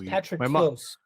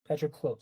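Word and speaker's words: Patroklos: The first one, I mean, I guess Patrocles as well, maybe a right pronunciation. I don't know. So it's Patroclos. Patroclos.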